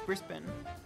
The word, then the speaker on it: Brisbane: and twigs and all Brisbane is not pronounced like that it's Brisbin you're lying to me